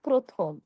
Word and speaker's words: প্রথম: দেখুন, শব্দের শুরুতে যদি অধ্বনি থাকে, যেমন ধরুন প একটি অধ্বনি। আর সেই অধ্বনির সঙ্গে যদি রফলা থাকে, তাহলে আমরা সেখানে এর উচ্চারণটা এর মতো করে বলব।